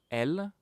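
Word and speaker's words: elles: Il, elle, pronounced the same as il, elle here, but now there's a s at the end, which means that it's plural, it's for a group, so it's they, okay?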